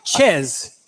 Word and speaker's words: Chez: It's Chez.